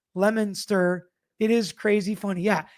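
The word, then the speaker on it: Leominster: Lemon Monster is Lemon Monster. Lemonster.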